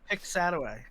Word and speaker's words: Piscataway: Yeah, I think it's pronounced Piscataway.